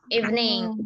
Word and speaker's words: evening: nih ee teman-teman masih banyak ya kurang tepat pelafalannya gimana teman-teman melafalkan kata ini even gimana even evening even evening evening Ok alr nah teman-teman e kalau teman-teman masih